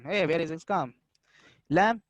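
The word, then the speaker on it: لام: Lam is a tarafiyah letter pronounced from the edge of the tongue and the parts of the roots of the teeth toward the pit.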